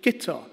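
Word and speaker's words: Guto: They could say Azerbaijan or Nizhny Novgorod, but they somehow can't say Gitter. When I was posted to Rome, lucky me, for the BBC, they would get it straight away. Oh, come Guido, Gitter, come Guido.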